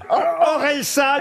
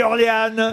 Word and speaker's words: Orelsan: chanteur comment vous dites Orelsan bonne réponse de Stev et Gérard jor non mais c'est une question de prononciation c'est moi qui trou vous avz dit Orléan oui mais c'est presque